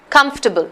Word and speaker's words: comfortable: using comfortable in fact the second syllable is almost not even pronounced if you hear the pronunciation it's comfortable comfortable you don't even have to say comfortable nobody says it that way it's it's not pronounced medication formality yeah so